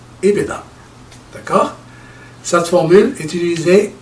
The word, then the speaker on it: EBITDA: C'est c'est un mot en anglais, ça se prononce I beta. I beta.